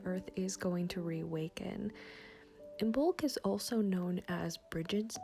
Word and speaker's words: Imbolc: I'm a little late posting this video, but I'm still immersed in the energy of Imbolc, so better late than never. Imbolc, sometimes pronounced Imbolc, is the Sabbat that marks the halfway point between the winter solstice and the spring solstice.